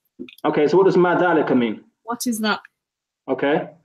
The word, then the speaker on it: ذلك: Sometimes your dhal sounds a bit like the azalika. Try to not pronounce it as za. It's dhalika.